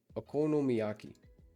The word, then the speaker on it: okonomiyaki: Okono miyaki.